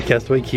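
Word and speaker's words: Castaway Cay: cway key pronounce key Castaway key is the way that you pronounce it so this says best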